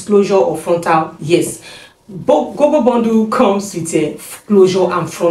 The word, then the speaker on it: GoGo: right hair pronunciation, is GoGo. No, I used to call it Bobo Bondu, but it's GoGo Bondu, and it's also known as a Miss Rola as well.